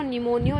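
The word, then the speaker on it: pneumonia: ठीक है, इसे हम यहाँ पे ये जो P है ये P साइलेंट है, इसको क्या बोलते हैं, प्लूरो निमोनियो लाइक ऑर्गेनिज्म. कौन सा ऑर्गेनिज्म है ये एक बैक्टीरिया है जो क्या करता है, निमोनिया फीवर.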